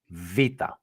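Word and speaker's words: Βήτα: So for us, the V is the second letter, and it is pronounced vita.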